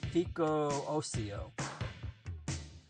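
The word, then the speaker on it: Fico Ossio: I want to know how to pronounce it. But they say it, Fico Ocio.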